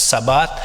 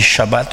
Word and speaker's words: Shabbat: Des fois on prononce Sabbat, mais comme en hébreu on dit Shabbat, je le prononce en hébreu.